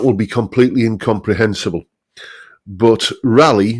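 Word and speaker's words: Raleigh: be completely incomprehensible but rally notice how uh how it's spelled here as in Sir Walter rally um rally bicycles were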